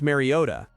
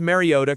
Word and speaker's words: Mariota: But when he repeated his own name, heavily emphasized the T exactly as Trico and Collinsworth had pronounced it.